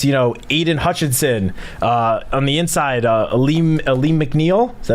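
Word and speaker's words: Alim McNeill: going up against, Aiden Hutchinson on the inside, Aleem McNeil. Is that how you pronounce it?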